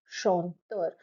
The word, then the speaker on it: chanteur: Now let's look at over here at chanteur. Chant is one syllable and ter is your next syllable.